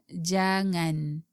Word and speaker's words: jangan: that's it today we will study the word jangan Jiang and in Malay generally it means don't